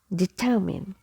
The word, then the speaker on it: determine: So determine, determine. So I will be pronounced as E. Okay, letter E is silent.